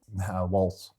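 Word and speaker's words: Walz: Alexandria Ocasio-Cortez, AOC, had a Twitch chat with the vice president, how do you pronounce his name? Waltz.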